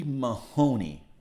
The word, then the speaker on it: Mahone: From Virginia, Mahoney. Mahone. 2 syllables.